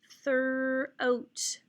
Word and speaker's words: throat: When you see OA in a word, more than likely it's a long O, silent A. I also see there's no other vowels, so this is just a 1-syllable word. There is a digraph TH there, and this is the word throat.